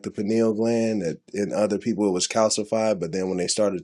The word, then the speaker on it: pineal: So it gave them another perspective on like the pineal gland and its actual purpose.